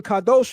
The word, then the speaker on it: Kadosh: The pronunciation Kadosh means holy.